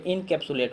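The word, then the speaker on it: encapsulate: देखिए जब जो वर्ड थोड़ा सा लंबा है उसको दो पार्ट में या तीन पार्ट में करके तब प्रोनाउंस कीजिए। देखिए जैसे यहाँ पे इनकैप्सुलेट हो गया। देखिए इन को एक बार में कीजिए, फिर कैप्सुलेट को एक बार में।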